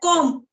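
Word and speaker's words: comb: of uh game like com c MB com but the pr in the pronunciation B is silent so that time I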